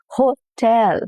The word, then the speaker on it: hotel: So instead of saying hotel, now here you're laying the stress on ho instead of tel, the second half of the word. Hotel.